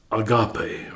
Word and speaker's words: agape: Then the one that Paul chose to use in 1 Corinthians 13 is agape, or agape. It's pronounced both ways.